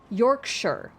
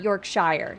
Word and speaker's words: Yorkshire: note in the UK any place that ends in Shire is pronounced like how you would say New Hampshire oh Yorkshire Not Yorkshire Yorkshire I'll fight you just